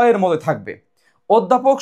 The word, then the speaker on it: অধ্যাপক: অ এর মত থাকবে অধ্যাপক শব্দটি উচ্চারণ হয় কি অধ্যাপক শব্দের অধ্যাপক শব্দ দেখো অধ্যাপক শব্দের অ আছে না এই অ কিন্তু ও এর মত হয়ে যায় তার মানে এটা অবশ্যই